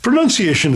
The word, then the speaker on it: pronunciation: of saying this word pronunciation is correct and not pronounceable not pronunciation yeah pronunciation um and it's actually linked to enunciation right which is to speak clearly and it's not linked to pronoun which is where the